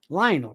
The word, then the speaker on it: Lionel: Lionel rhymes with vinyl.